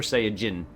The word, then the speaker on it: Saiyajin: SSJ, for anyone who's wondering where SSJ, it's G, Super Saiyajin. Is the actual pronunciation of the Super Saiyans.